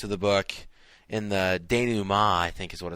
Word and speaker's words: denouement: It's denouement.